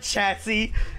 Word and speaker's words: chassis: we have enough okay the third s is silent no it's not chassis it's not silent did you call it